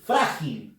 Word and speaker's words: frágil: Frágil, lo mismo, termina en L y la fuerza de voz está en la sílaba fra, que es la penúltima.